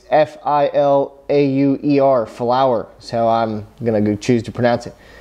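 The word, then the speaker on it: Filauer: It's F-I-L-A-U-E-R, Flower. So I'm going to choose to pronounce it.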